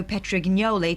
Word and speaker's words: Petrignoli: Johnny Bucknell, 58, was ordered by Camden Council Mayor Lazzaro Petrignoli to stop eating because it's banned in the chamber. I would have said it was a soft G.